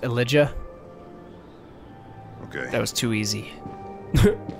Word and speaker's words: Elijah: It's pronounced Elijah.